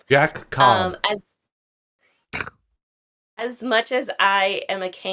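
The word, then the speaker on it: Jaccob: He's got the 2 C's, so I wonder Yes, if it that is pronounced still it is still just Jacob. Jack Cobb.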